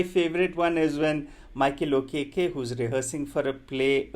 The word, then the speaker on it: Okeke: So where the Indians are not able to pronounce Okeke, they pronounce it as okay, or they're not able to comprehend the name Okeke, and they keep calling him okay.